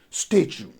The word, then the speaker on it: statue: but we say statue so the stress goes on the first syllable and we pronounce it as statue while in some other